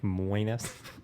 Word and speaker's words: Moynes: Blake Moynes. Blake Moynes. Oh, man. Okay, The so E is silent, of course.